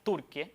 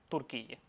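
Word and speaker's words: Türkiye: Bueno, decirlo lo más cercano posible, como lo dicen los turcos, que sería Turquie y no turquille. Entonces, Turquie, Turquie sería la forma e más cercana, ¿cómo lo pronunciarían los turcos?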